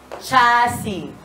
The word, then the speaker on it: Chassy: Cass chass chass chass cha cha sashi ch like share catchy chassy chassy yes chassy yes chassy sorry I'm slow hinay hinay ko kaay I'm sorry signal.